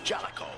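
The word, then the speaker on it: Jaleco: And now, take the excitement on the road with Bases Loaded for the Nintendo Game Boy from Jalico. Live action that never ends. That's how you pronounce it, Jellicoe.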